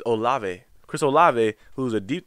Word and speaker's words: Olave: um i have chris o i was his name wrong or live it's olave chris olave who's a deep threat talked about